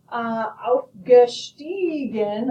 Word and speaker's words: aufgestiegen: Aufsteigen, I hear the I sound. Aufgestiegen, I hear the E sound.